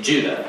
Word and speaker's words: Judah: the letter of jews or more accurately judah according to the pronunciation of his name both in greek and in hebrew judah was one of